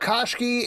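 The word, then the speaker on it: Koshchei: Let's talk about Koshki in Hell, #1 from Dark Horse Comics.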